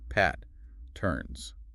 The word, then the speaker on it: patterns: In English, we stress the first part of this word. We make the first syllable stronger. Listen carefully. Pat, turns.